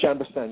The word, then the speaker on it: Chambourcin: Chambourcin, yes.